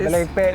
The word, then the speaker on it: Abelemkpe: Or mansion in Abelemkpe. Yes. Feel free to correct me if my pronunciation is. Abelemkpe, that's right.